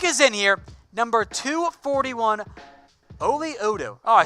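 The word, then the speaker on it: Oli Udoh: So pick is in here, number 241, Oli Odo. Oh, I said it wrong the entire time. My bad, guys. It's Oli Odo.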